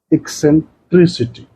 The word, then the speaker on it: eccentricity: And if we write this, it will be eccentricity. The stress is on TRIC.